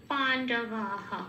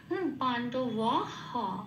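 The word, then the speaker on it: পাণ্ডবাঃ: তাহলে হবে ধনুর্বিদ্যামিয়া পাণ্ডবাহ।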